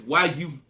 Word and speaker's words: Yusef: I'm going to spell it first. It's Y-U-S-E-F.